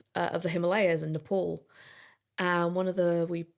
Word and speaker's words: Nepal: was I went, "Um it's actually pronounced Nepal." Oh, no. And he went like not even a second of thought. He just went, "No. It's called Nepal and you live there cuz you've got knee pals."